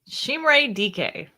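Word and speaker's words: Chimere Dike: Chimere DK.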